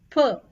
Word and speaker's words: peux: Let's see first how pouvoir is conjugated and its pronunciations. So for je, it is P-E-U-X. Je peux. Per.